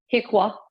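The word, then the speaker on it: HCQIA: the healthcare quality improvement Act of 1986 is generally pronounced um Piqua is the acronym it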